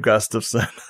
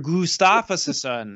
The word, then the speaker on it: Gustafson: See, my name is normal. It's phonetic. It doesn't take any weird, like, people want to throw a bunch of flavor on it when they say it. Like, I've gotten so many weird pronunciations and I'm like, dude, it's just phonetic. Like, you just, it's literally just how it's spelled. That's how you say it.